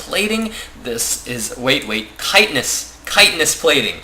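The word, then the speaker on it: Chitinous: this is wait wait kitness kitness plating I'm pretty sure the pronunciation for that is kitness correct me on that one if I am wrong but I believe it is kitness plating uh going down on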